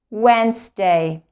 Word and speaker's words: Wednesday: like Tuesday Tuesday Tuesday Wednesday remember there is the letter D is silent we don't pronounce the letter D we don't say we